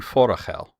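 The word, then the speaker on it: Forochel: Oh, listen to Matt correctly pronouncing Forachel.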